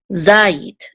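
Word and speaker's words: זית: And this is a zayin with a patak, which says za, and this first syllable has the accent mark because of this trope mark right here, za.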